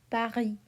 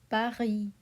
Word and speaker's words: Paris: We spell the capital of France Paris, but we drop the S. We do not pronounce it. Okay? We say Paris, Paris.